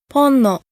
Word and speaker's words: ponno: So, for example, the following words have the accent on the first syllable: aynu: person, and actually the namesake of the Ainu people and the Ainu language ponno: "a little", as in